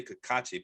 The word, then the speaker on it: Kikuchi: You say Kikuchi. I was about to mention him. I go, well, Sean, I say Kakachi, but you say Kikuchi.